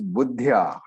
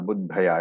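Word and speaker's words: बुद्ध्या: So the word here is buddhya, not buddhaya. It is a half the.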